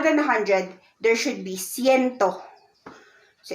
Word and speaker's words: ciento: Now, if you're gonna include, if there is like 120, it's ciento and then 20.